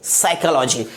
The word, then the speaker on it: psychology: आप यहां देख पाएंगे कि लेटर जो P है वो S के पहले है और जैसा कि नियम है कि P लेटर S के पहले आने से P की प्रोनाउंस नहीं होती है, इसे क्या पढ़ेंगे? साइकोलॉजी।